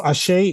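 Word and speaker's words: àṣẹ: but what is Ace so ashay is I I often that's fine just don't pronounce it like ache no um I usually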